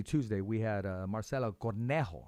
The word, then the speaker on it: Cornejo: we had uh marcelo cornejo i got to make sure i said right that's it right cornejo no because she corrected me cornejo i didn't say it